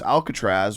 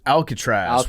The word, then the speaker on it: Alcaraz: got another one uh us open champ carlos alcatraz what a cool name alcatraz alcatraz yeah alcatraz okay alcatraz is are we pronouncing it correct carlos alcatraz yeah you guys got it uh chase jacobs